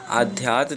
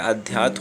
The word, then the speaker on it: अध्यात्म: आध्यात्म नहीं होता है, अध्यात्म होता है।